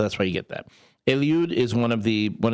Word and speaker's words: Eliud: That was my my my So, I'm Elude. Eliude is in Spanish, but people can't pronounce it, so I go with.